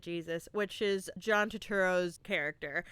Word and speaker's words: Jesus: I expected Jesus, but was really hoping for Jesus, like the pronunciation. And I was not let down. They pronounced it Jesus, which is John Turturro's character.